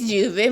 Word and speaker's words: llueve: Our next sentence coming to you is llueve mucho hoy. Guys, you guys already know double L is pronounced as J. In Spanish, it is pronounced as llueve, which means raining in Spanish.